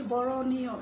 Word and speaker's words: বরণীয়: তেমনি বরণীয়, স্মরণীয় এই উচ্চারণগুলি, বরণীয় এখানেও কিন্তু মূর্ধনন্য রয়েছে, মূর্ধনন্য দীর্ঘিকার রয়েছে। তো আমরা কিন্তু উচ্চারণের সময় মূর্ধনন্য উচ্চারণ করছি না, যেহেতু মূর্ধনন্য এবং দন্তন্যের জন্য আলাদা কোনো উচ্চারণ হয় না, তাই আমরা দন্তন্য উচ্চারণ করব।